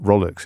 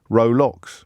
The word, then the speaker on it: Rolex: It's pronounced Rolex. It's one of those sort of pronunciation glitches that are so popular in the English language.